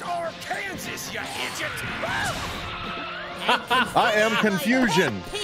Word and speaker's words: Arkansas: It's pronounced Arkansas, you idiot!